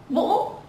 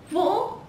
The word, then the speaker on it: Vũ: My surname is Vũ. Vũ.